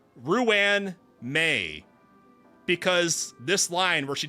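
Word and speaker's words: Ruan Mei: When saying my name, please don't run the syllables together. I've been saying Ruan May because this line where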